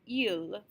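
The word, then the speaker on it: ils: Remember, we don't pronounce S's at the ends of words, so il and il, he and they, are pronounced the exact same way.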